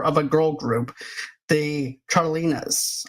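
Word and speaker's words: Chantrellines: a girl group, the Charlinas. I think that's how you say it, right? Chatelinas, I Oh, think. the Chantrelines? Yeah, that's it. Chantrelines. Yeah.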